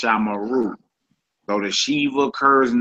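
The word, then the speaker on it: שָׁמְרוּ: It's pronounced shamara, shamara, and it's pronounced shamaru, shamaru. Though the shiva occurs in the middle of a word, it is vocal.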